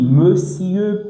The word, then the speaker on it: monsieur: Il y a des gens qui disent mon cieux. Non, on dit pas mon cieux en français hein. Même si vous voyez o mais on prononce toujours comme me.